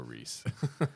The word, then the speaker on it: Rhys: I like that yeah and Reese is spelled in like a weird Welsh way but we're not Welsh at all it's like RH Ys yeah can't tell you